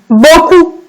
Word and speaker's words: beaucoup: Et utilise beaucoup. Regardez le O, ici qui s'écrit avec trois lettres. E, A, U. Beaucoup. La lettre P est une lettre muette. Je la vois, mais je ne l'entends pas.